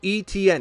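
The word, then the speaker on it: Etienne: Etn. If you say those letters in a row, that's his name.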